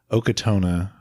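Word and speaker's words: Ochotona: Scientific name, Okatona.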